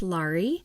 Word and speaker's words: Lari: I uh my name is pronounced Lari and it rhymes with Starry.